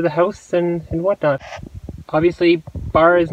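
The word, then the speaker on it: barre: I just actually finished bar class. Now I've been doing this for about a month and a half now, I guess almost. And if you've never heard of bar before, it's spelled B-A-R-R-E.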